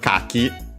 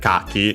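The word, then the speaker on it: 柿: With this kanji, it means yeah, kaki, the Japanese persimmon. Kaki, an accent, by the way, actually. Kaki. Which does help distinguish it from other kaki.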